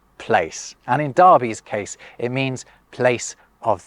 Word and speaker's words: Derby: is that East Midlands it's the Midlands uh Darby sure um and also Darby d e rby y that's how they pronounces this Darby is uh the term they use for like